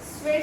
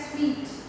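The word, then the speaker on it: sweat: नाम ही क्या है? स्वीट, और हम लोग इसको प्रोनाउंस करते हैं स्वेट इक्विटी शेयर।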